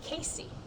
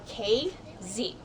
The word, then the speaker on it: Casey: call you out if they hear you say Casey. We are KZ. We are 2 letters that are not in the spelling of the word that we're named after. KZ, huh?